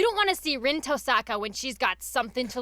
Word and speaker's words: Tosaka: We have said Tosaka in the past. We're trying to sort of more adhere to the Japanese pronunciation. Oh. Tosaka. Tosaka. Like Tosaka. Tosaka. Is that right? Tosaka? Yeah. Rin Tosaka? Yeah. Imagine there's an E in the middle.